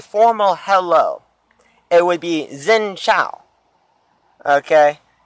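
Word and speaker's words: Xin chào: It would be Xin Chao. Okay? It's, honestly, I can't remember how to spell it.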